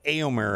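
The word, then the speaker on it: Éomer: on this game so aomer I guess is the correct way to say it was I'm getting corrected right now which is fine uh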